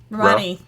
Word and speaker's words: Romani: ni, Now, put the first two together. Ro. Ma. Roma, Now, ni. ni, Now, put all three of them together. Romani.